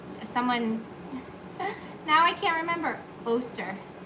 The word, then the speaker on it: Oster: I don't know if you guys have one of these, someone, now I can't remember, Oster. Yep, rhymes with toaster.